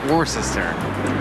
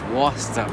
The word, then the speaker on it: Worcester: do I know that how do you pronounce it Worchester I hated this war war war sister Worchester the German like what is that Worcester Worcester Worcester yes Worcester Wow you got